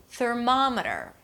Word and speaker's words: thermometer: The stress falls on the one syllable before the suffix, and suffixes are usually reduced. Parameter. Thermometer.